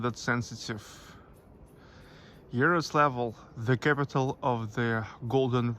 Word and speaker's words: Yaroslavl: By the way, in Russian language, Yaroslavl pronounced as Yaroslavl. It's L with soft sign.